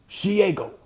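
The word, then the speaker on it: Shego: Also, I just watched a video of someone saying that Shigo from the show Kim Possible, the way to pronounce her name is Shiego, which is the stupidest thing I've ever heard.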